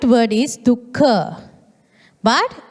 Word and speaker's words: dukkha: Some pronounce it as dukkha, but it's the correct word is dukkha.